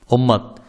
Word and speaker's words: উম্মাহ: উম্মাহ অথবা উম্মাত একই। আমরা যখন উচ্চারণের সময় পড়ি তখন শব্দের শেষে যখন ওয়াকফ হয়ে যায় তখন সেটা উম্মাহ হয়ে যায়।